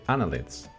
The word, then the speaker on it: Annelids: Se dice Annelids. ¿Ok? No lleva tilde, pero que sepáis que la sílaba tónica estaría ahí en la A.